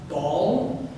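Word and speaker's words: Baal: promoted the worship of ball which sounds funny it's spelled e a a l it's not just a giant sphere that they're worshiping uh thank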